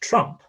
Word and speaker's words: Trump: So in a word like Chrump, spelled with that TR sequence, it's usually pronounced Trump with an affricate.